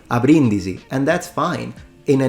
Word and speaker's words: a Brindisi: name of the city even though the bee is single in standard Italian this should not be pronounced but it should be pronounced abrindisi with a double b now I know that